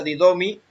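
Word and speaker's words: δίδωμι: Y la palabra ha dado es la G1325, se pronuncia didomi, y significa conceder, confiar, constituir, dar, entregar, infundir, permitir, procurar y producir.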